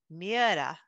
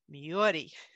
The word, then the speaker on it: Myhre: present pronounce this name so this is norwegian and when i've talked to my scandinavian friends they've said it's pronounced miera or miyori in the united kingdom i've listened to people pronounce it myra and in the united